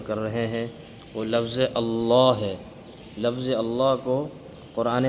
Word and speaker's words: اللہ: جاتا ہے، یہاں پہ بہت غلطیاں کرتے ہیں بچے کہ لفظ اللہ کو باریک پڑھ دیتے ہیں، صحیح تلفظ سے ادا نہیں کرتے۔ تو اسی چیز کو